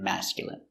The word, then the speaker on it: masculine: Words ending in ine can have different pronunciations. All of these have the sound in. Imagine, examine, engine, discipline, feminine, and masculine.